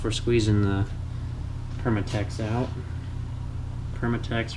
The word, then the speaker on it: Permatex: Permatex rhymes with latex, lube, goop, stuff.